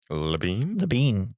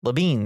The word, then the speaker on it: Labine: And so before shooting began, Alan Tudyk and Tyler I should have looked up how to say his last name. Labine. Labine. That makes more sense.